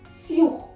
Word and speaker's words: sur: Many people have a misconception that sous or sur is similar or it is pronounced similarly, but no, mind it, it's sur, sur, and it is sous, sous.